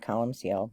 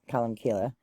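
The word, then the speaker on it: Colmcille: so I go to colum and some people pronounce it colum seal but colum Kila um so I go and I was so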